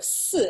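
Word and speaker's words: 四: within Chinese culture because it sounds like the word for death so sue is how you say the number four in Chinese and is to die so it's not something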